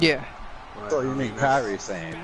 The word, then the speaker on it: Kairi Sane: But, So you mean Kairi Sane, right? Yeah, Harrison. Yeah. Yeah. Kairi Sane.